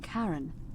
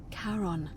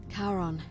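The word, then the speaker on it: Charon: It's just as you described it, only your pronunciation is a little off. The name you heard wasn't Karen. It was C H A R O N. As in Karon, the fairyman of the dead. Karon, who in exchange for the right coin, helps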